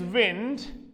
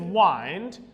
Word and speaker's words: wind: here so here is wind and here is wind here it is used as a noun and here it's used as a verb therefore the pronunciation obviously undergoes a change but when we talk